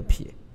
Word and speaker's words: 撇: 下一个字呢是撇，它就是念成一撇的撇，奶、酒、汁、饮、呼、乖、成都是。